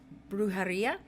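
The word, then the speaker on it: brujería: your guides that you need to start practicing brujaria is that correct i said it right perfect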